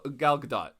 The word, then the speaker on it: Gadot: They have yet to do that, except for Gal Gadot. Yes. Gal Gadot's Wonder Woman. She doesn't. What did I say? The T is silent.